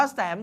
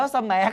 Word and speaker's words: แสม: รูป ต้น แสม ขาว บาง คน ถาม ว่า แสง ขาว ไม่ ใช่ นะ นัก เรียน อ่าน ว่า สมัย ขาว นะ เออ ตรง นี้ กี่